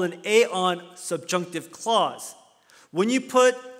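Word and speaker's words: ἐάν: word in the beginning it's pronounced aeon and if you connect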